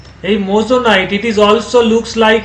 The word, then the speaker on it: moissanite: কি বলে উচ্চারণটা? মোজোনাইট।